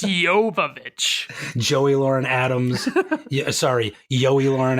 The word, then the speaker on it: Jovovich: It's Jovovich.